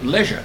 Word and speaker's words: leisure: way the other day, leisure. They said leisure or leisure, whichever you like to call it. I was rather surprised. I thought it was only pronounced one way in the United States, leisure.